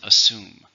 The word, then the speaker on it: assume: true grammar label verb how many syllables in assume two stresses on the second if you haven't heard